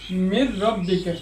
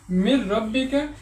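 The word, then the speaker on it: مِن رَّبِّكَ: হরফ আসছে তো এখানে নুন সাকিনওয়ালা হরফটি উচ্চারণ হবে না এখানে হবে মির রব্বিকা মিন না বলে বলব মির রব্বিকা এটাও এভাবে মাইয়া মাইয়ামাল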